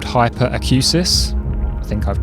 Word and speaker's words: hyperacusis: Um, you can develop something called hyperacusis. I think I've pronounced that correctly.